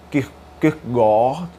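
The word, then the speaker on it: Kierkegaard: indubitável que ele leu quis pegar né cuja pronúncia certo é que corre né grande filósofo dinamarquês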